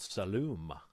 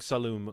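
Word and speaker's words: Saloum: And I think I'm saying salum correctly. I don't think it's salam or anything like that, but salum.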